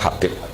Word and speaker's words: Habib: di harokatnya kitab itu ada yang nulis hubb Yang benar Oh giih yang benar itu bacanya habib habib itu asulami itu ikut